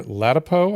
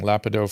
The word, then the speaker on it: Ladapo: Tomorrow we have Dr. Ladapo, I think is how we pronounce his name. I've been saying Lapido forever.